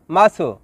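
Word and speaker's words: masuk: Number 11, মাসো, যার বাংলা অর্থ প্রবেশ করা বা ঢোকা। শব্দটি লেখার ক্ষেত্রে লিখতে হয় মাসুক, তবে এর সঠিক উচ্চারণ হবে মাসু।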